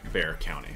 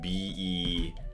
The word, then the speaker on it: Bexar: interesting story about um a legend about uh bear county so bear county is the county in texas where san antonio is and it's spelled b-e-x-a-r so often times if you don't know how